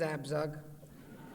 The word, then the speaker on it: Abzug: I know it's hard to pronounce my name, but it is Abzug. It's a little different, you know. It's not too American not to have a B and a Z together, which is, 2 consonants don't go together.